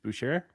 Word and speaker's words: Boucher: Boucher. Oh, Boucher. To Utah. What is Utah doing? Boucher? What is Utah doing? I don't understand what out. Utah's doing. They probably Chris got like Boucher.